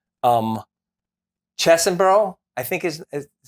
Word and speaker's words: Chesbrough: I'm going to mispronounce the name. Um Chesbrough, I think is is c h e s b r o u g h.